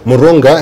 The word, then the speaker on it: Murunga: Murunga.